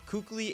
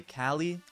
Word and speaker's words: Kukli: Some people say Kali. I'm calling him Kukli. I always called him Kukli. Kukli sounds better to me.